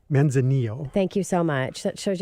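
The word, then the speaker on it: Manzanillo: starting out the show so Jeff I described manna Zillow a bit and did I pronounce that correctly men's Anil thank you so much shows you how much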